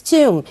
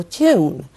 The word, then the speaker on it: tomb: It's tomb. B here is silent. Of course, don't pronounce the letter B here. So, tomb lunar.